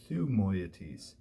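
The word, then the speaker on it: Thymoetes: As I think I said in class, the upsilon in Greek is halfway between a Y and a U. It sounds like Ü, sort of like an umlaut O in German. And so you've got that letter. When it comes into Latin, it tends to be transliterated with a Y. Okay, so what we really have is Thumoietes.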